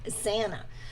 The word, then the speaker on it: Xana: Just pronounce like Anna with a Z. I see what you mean. Xana.